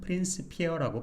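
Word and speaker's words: Principia: 복수형태로 바꾸면 a가 되니까 이게 고대 라틴어에서는 페인트 피어라고 발음이 됐대요 이렇게 그러다가 시간이 지나서 이제 프렌치피아라고 발음이 되다가 또 페인키피어라고 발음을 하기도 하고 현대에서는 대부분 프린스피어라고 발음을 한대요 좀 재밌었던 것 같아요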